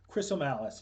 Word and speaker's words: Chrisomalis: That's a bit of a mouthful, but the way I tell people to remember it is that it rhymes with gristle malice, which is two things.